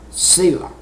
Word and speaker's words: Selah: And then there's a word, S-E-L-A-H. That is pronounced Selah.